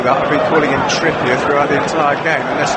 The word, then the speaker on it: Trippier: Now, Adrian Bailey says Trippier, as in more trippy. He ain't French, I know that. I've been calling him Trippier throughout the entire game, unless I might have mispronounced.